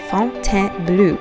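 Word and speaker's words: Fontainebleau: smaller sites such as Fontaine Bleau, which is spelled Bleau, but pronounced bleu apparently by the French people.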